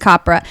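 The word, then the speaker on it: Capra: the 40s and 50s rhymes with mapra opera copra frank copra i only remember that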